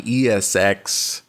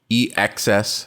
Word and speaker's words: EXS: put it in my ESX did I say it right EXs there we go I say ESX sometimes but but it's EXs and the reason why